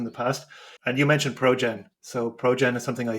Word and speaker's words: Projen: By the way, it's spelled Projen as Projen. So sounds like project, but it's Projen instead, which I always find it a little bit of a funny name.